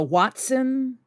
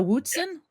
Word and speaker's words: Hoatzin: two ways yeah okay Watson like Sherlock wats watsen or Watson Watson I like the